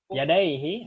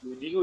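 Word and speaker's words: يديه: Farafa'a yadayhi. Farafa'a yadihu. Yadaihi musanna. Yudihu Ustaz. Yadaihi. Bukan, yadaihi.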